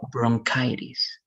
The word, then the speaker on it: bronchitis: it's this one and you pronounce this e as i so it's going to be bronchitis okay so good let's